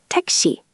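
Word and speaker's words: 택시: Tek-shi.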